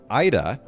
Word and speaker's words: Aida: tell you like a totally random fact um ida and am i pronouncing your first name correctly that's correct okay so ida this is very interesting i actually thought about